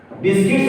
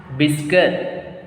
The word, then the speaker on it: biscuits: See here. U-E will make V sound. Biscuit. So how will you say? Biscuit. Both will be silent. Biscuit because see, generally this word is ending with T. Yeah. We are adding S to make it plural.